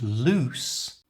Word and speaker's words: loose: sound loose you try and loose which has a definite s sound in it Loose try